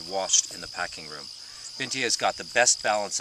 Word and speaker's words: Bintje: And then right now they're digging my favorite, which is a Scandinavian variety called Bintje, and it's spelled B-I-N-T-J-E.